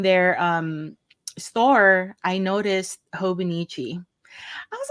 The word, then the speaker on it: Hobonichi: my channel and then you were still pronouncing it wrong and I was still pronouncing it wrong even though I heard them say it hobonichi I'm like habichi you know what in